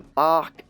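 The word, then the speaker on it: barque: it would be the bark and the sanctuary at the back is spelt be a r qu e and I think it's a French word and it means ship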